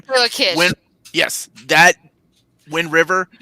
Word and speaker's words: Taylor Kitsch: Tyler Kirsch? Is that how you say his name? Taylor Kitsch.